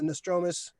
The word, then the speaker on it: Nostromo: uh he had his hand in a bunch of stuff and uh alien he designed the uh no the nostromos dramas how you pronounce it the nostromo nostromo yeah he designed